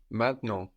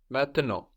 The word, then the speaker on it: maintenant: maintenant getting totally disappeared, like in maintenant. Or you can hear it like maintenant. You can hear both in French. So we have two N's now on the end of the syllable, like in main and then nant, the N there on the end. So those are swallowed up into the nose. And we have the final T totally silent as well.